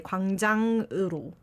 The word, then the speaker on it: 광장으로: 광장, this thing, you don't need the G sound at the end. I think he's kind 광장그. of said 광장으로 나오세요, but you just say 광장으로.